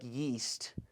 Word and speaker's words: Yeast: com that's juel dot ye AST at Global Information Network com my first name my last name yeast it's spelled like yeast but rhymes with paste yeast also if you